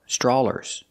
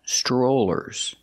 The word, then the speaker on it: strollers: cannot say free sters the word is not pronounced straw ER sters it's pronounced strollers we have to use that long o sound like no and go strollers if you have